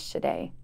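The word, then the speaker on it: Sade: shade is her favorite singer so she chose shade as my middle name now shade the singer her name is spelled s-a-d-e yes why did she spell it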